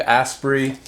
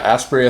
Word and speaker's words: Asprey: Coffee founded by Dave asprey or yeah aspiry I think is how you pronounce it but these are the